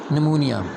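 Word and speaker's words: pneumonia: निमोनिया दूसरा disorder of respiratory system हमारे पास है निमोनिया। पी साइलेंट है।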